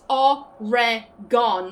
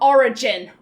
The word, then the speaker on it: Oregon: That is like, you pronounce every component Oregon. Like, everything is pronounced, but not origin.